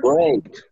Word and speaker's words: great: Great. It's great. Great. Great. At the end, you pronounce the T.